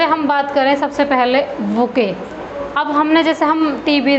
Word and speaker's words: bouquet: पता नहीं होता कि बुके होता क्या है। अब देखो बुके इसका प्रोनाउंसिएशन है और स्पेलिंग है BOUQUET, बुके।